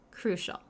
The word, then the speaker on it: crucial: look how it's pronounced but cral sounds like an sh crucial okay let's let's look